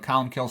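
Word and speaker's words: Colum Cille: you know it's here's how it's spelled but colum kills how it's pronounced he lived from about 540 to 614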